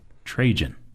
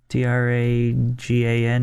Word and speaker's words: Trajan: Trajan. Tragan, maybe? Okay. Yeah. No, Jan. Jan, not Gan. That rhymes with Cajun.